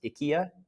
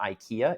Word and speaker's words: IKEA: So, and also we've been buying furniture from, Ah, I'm told it's pronounced IKEA. not IKEA.